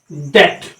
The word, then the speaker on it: debt: जैसे DEBT, ये क्या है। अब अगर आपको प्रोनाउंसिएशन के बारे में पता नहीं होगा, अगर आपको मूक वर्ण अर्थात साइलेंट लेटर के बारे में पता नहीं होगा, तो आप इस वर्ड को गलत प्रोनाउंसिएशन करेंगे। इसका प्रोनाउंसिएशन आप क्या करेंगे, आप इसका प्रोनाउंसिएशन डेप्ट कर देंगे, लेकिन बट दैट इज रॉन्ग। इस प्रोनाउंसिएशन इज डेट।